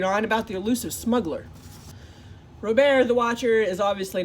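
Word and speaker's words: Robert: to introduce himself as robear with a silent T like the French say it but I was already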